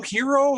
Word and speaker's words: gyro: strong yes is it is it gyro hero how is it pronounced i think it's hero it's a swing there to be honest i i think it's hero too but in that episode of seinfeld don't they call it a gyro they do call it